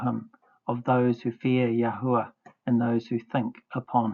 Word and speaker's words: Yahweh: This study concludes the correct pronunciation or transliteration of our creator's name is the contracted form Yah the full form Yahwh seola treasured possession.